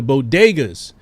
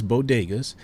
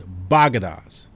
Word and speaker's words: bodega: convenience stores known as bodegas uh that are often run by dominican or puerto rican merchants biden mispronounced the word as baghdas she didn't mispronounce the